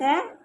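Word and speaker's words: who: ओ हुफ यहां पे डब्ल्यू O silent है एच ओ हु एच ओ हु एच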